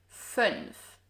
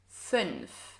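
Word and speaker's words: fünf: 0, 1, 2, 3, 4, 5. This one is a little tricky to pronounce because of the NF combo, so make sure to practice this a few times. 5.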